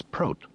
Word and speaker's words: Pro: My name is Pro. He pronounced it to rhyme with goat, not hot.